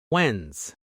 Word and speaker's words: Wednesday: Let's practice Wednesday's day together.